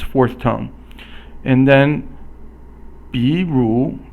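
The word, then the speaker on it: 比如: So 比 is 三声 or third tone. 如 is 二声. So 三声 is falling, then rising, and then 二声 or the second tone is a rising tone, quickly rising.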